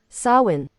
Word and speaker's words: Samhain: I'm going to look up how to pronounce that properly. Samhain.